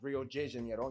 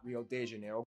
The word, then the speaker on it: Rio de Janeiro: that's right it's pronounced rio de janeiro not rio de janeiro yeah i always pronounce rio de janeiro get it right we're not in mexico this is portuguese not spanish this was done in